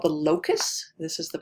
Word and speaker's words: locus: a gene on a chromosome is called the locus this is the pronunciation because it's not obvious how you pronounce